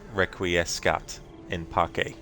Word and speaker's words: requiescat in pace: Benton, the Romans spoke out of the Latin C as a K, by the way, so it's pronounced requiescat in pace.